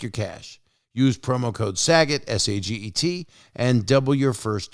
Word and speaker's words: Saget: in your intuition and use the promo code saget yes it's spelled s-a-g-e-t and use that promo code sagit and double your first deposit new players get